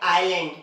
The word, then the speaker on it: island: ही condition है उसकी, एस जब भी आई और एल के बीच में आएगा तब क्या होगा, एस साइलेंट होता है। जैसे देखिए AISLAND, तो यहाँ पर क्या हो रहा है, एस आई और एल के बीच में आ रहा है, तो हम लोग इसे पढ़ते हैं आइलैंड, ना कि आइसलैंड, है ना।